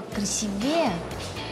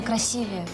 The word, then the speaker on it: красивее: Ну ничего только слово красивее звучит неверно правильно красивее ударение должно падать на букву и а у а е